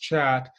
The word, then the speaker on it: khat: So that term there that's spelled Khat is pronounced chat.